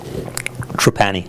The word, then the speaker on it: Trapani: Trapani, right? Trapani.